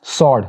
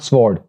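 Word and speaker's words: sword: उसके बाद जो नेक्स्ट वर्ड है उसमें डब्ल्यू साइलेंट है, इट्स सॉर्ड नॉट स्वॉर्ड, सॉर्ड means तलवार।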